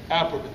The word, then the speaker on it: Alperovitz: So we had an economist to come and present to the group, and I always get his last name wrong, Gar Alperovitz. Alperovitz, thank you.